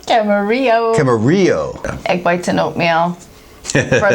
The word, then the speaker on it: Camarillo: Camarino? How you pronounce it? Camarillo.